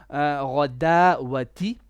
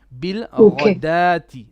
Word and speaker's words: بالغداة: Rain is heavy, and also this is not radawati. This is actually radati. The wow here, it is silent. It is like an alif. Bil radati.